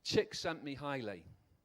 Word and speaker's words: Csikszentmihalyi: by ross and psychologists see if it can pronounce this Csikszentmihalyi it's a state of mind where you perform